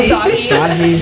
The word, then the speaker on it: Asahi: Asahi.